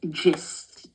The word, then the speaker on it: gist: It's not the gist. It's gist. Okay?